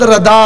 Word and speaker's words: رضا: نام ہے احمد رضا. کیا کہتے ہیں بھائی؟ رضا نہیں کہنا، دعا پر احمد الردا.